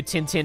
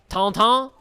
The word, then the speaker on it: Tintin: Tintin? That's how they say it in the French dub of the cartoon.